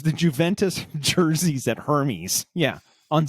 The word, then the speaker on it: Juventus: Juventus.